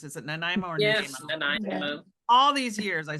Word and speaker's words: Nanaimo: Is it Nanaimo or Yes, Nanaimo? Nanaimo. All these years, I still don't know how to pronounce this.